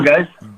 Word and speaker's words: Ghattas: Am I pronouncing your last name right? Yeah, yeah, you nailed it.